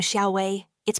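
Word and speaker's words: Xiaoei: I'm Shiae. It's pronounced Shiaei.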